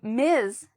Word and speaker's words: Ms.: So, Miz is MS.